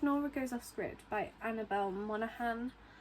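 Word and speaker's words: Monaghan: Goes Offcript by Annabelle Monahan. Um or Monigan, I don't know how I pronouncing the surname, but I've seen it a lot of people pronounce it Monahan.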